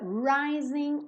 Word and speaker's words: rising: Love is in the air in the rising of the sun. Rising frequentemente, 99,99% das vezes, um G numa palavra com ING não é pronunciada. São pouquíssimos sotaques no mundo que pronunciam esse G.